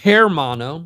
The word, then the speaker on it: Hermano: Roses, Windrose, Mammoth Caravan, Hermano, or Hermano, if you want to pronounce it completely in English, The Native Howl, Texas